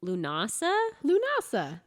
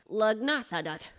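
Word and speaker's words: Lughnasadh: a minute that's pronounced lunasa lunasa but it looks like lagnasa yeah there's a d in there there's a lot of there's like a g and an h you wouldn't expect yeah and people get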